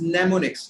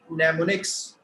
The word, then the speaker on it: mnemonics: Assembly language uses mnemonics. Now, these, if you see, yeah. These 3-letter commands in low-level language, these, INP, STA, LDA, these are said to be mnemonics. Mnemonics. All right, this M is silent.